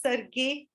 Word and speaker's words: Sergei: We pronounce it as Sergei, Sergei, because it's a what you call as Russian name.